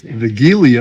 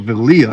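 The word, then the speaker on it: Wigilia: And talking to Selena, I found out that they again pronounce their Christmas Eve as Vigilia as opposed to Vilia as we say it.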